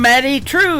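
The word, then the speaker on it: Madye Trew: That is a brand new single from Maddie True. It is M A D Y E on her first name and True is spelled T R E W.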